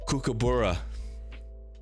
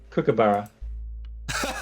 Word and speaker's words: kookaburra: to pronounce it again kookaburra all right do you want me to like show you how to nah all right he had the first part right so it's like cooking so like cook and